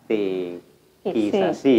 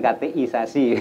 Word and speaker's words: katekisasi: Katekisasi ya bahasa kateki ya, bukan kateisasi.